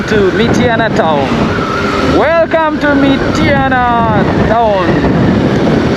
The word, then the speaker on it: Mityana: So in the old days I used to call it Mityana. I thought that was the pronunciation, the name, but it is Mityana. I would add an I somewhere, make it sound Mityana.